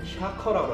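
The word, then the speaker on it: shaker: 네, 정확한 발음은 이제 샤커라고 하는데 샤커.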